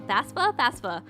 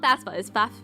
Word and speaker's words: FAFSA: FAFSA. It's not FAFSA.